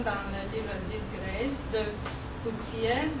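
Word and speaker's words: Coetzee: Par exemple, les chiens dans le livre Disgrace de Coutier, j'ai appris que ça prononce comme ça, Coutier, parmi lesquels au moins un est un ange de l'Apocalypse chien.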